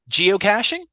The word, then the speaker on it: geocaching: word geoc catching oh geocaching yeah that's it geocaching cashing cashing as in like cash money but it's spelled CA c h e cash cashing why do